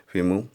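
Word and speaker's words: femur: आर इसमें जो है साइलेंट है। ओके, फीमू।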